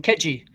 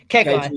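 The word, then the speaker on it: Khegai: Um, I'll go Oh, is that how you pronounce it? What did I call him? Ketchi. Kegy. That's right.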